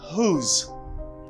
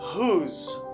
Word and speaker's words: whose: Do not pronounce W. You have to pronounce H. You stress the H. Ou accentue H là. Et puis, ou prononcer reste là. You say whose.